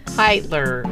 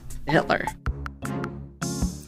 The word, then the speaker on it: Hitler: They want to pronounce it every other way. Heitler, or yeah. That's the first one that comes Hitter.